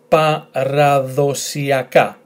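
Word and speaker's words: παραδοσιακά: So, long word, let's start, pa-ra-dho-si-a-ka, paradosiaka, paradosiaka.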